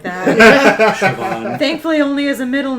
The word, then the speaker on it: Siobhan: And be like, "Siobhan." Like, that's not how you spell that.